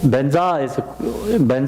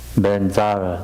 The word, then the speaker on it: Benzar: Should it be pronounced, or should it be spelled B-E-N-Z? Yeah, Z, actually Z. Benza. Benzar, Z-A-R, Benzar.